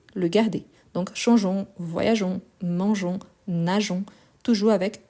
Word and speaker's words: changeons: Donc, pour éviter les sons, on ne prononce pas les E, mais on l'écrit.